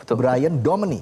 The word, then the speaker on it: Bryan Domani: Masih bersama dengan Brian Domani di sini. Benar bacanya ya? Brian Brian Domani. Betul. Brian Domani. Ya, Domani. Oke.